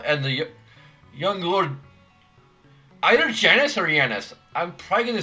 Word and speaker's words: Janus: that are usually pronounced Yanis. Let me actually, let's ask Google. Oh, it actually means God. Okay, so it is, at least in English, it's pronounced Janice. It is the American pronunciation.